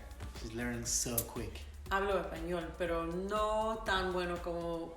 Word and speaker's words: español: By the way, en español, not español, because it's an S. If it was a C, some people would pronounce with a th, but the th only happens when there's a th, not an S.